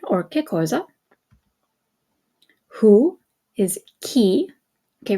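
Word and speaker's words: chi: who is key okay remember it's a hard ey I'm sorry it's a hard C Sound because you have the H in there so if the H wasn't in there you would say G but because you have the H remember it makes the C into a hard sound so key and K okay where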